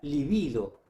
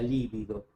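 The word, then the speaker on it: libido: Es la livido. La livido que no lleva tilde porque graba en un cal y con b larga. Pero no digas la lívido.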